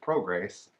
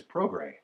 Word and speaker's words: Prograis: that it's not Regis Pro grace its Regis program right the S is silent I Rachel asked you